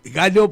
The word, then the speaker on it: Gallo: tú, justamente me decía Gacho, porque en Rocha tu apellido lo pronunciamos Gacho, por eso la cosa, pero yo aclaraba que eras Galo.